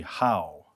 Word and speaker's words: Howe: of the appointments, there's an individual's name that is spelled incorrectly. It is on your backup as Hall, Hall, and it should be Howe, Howe.